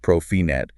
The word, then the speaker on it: Profinet: This is where we get into the world of Profibus, pronounced Profibus, Profinet, pronounced Profinet, and industrial Ethernet.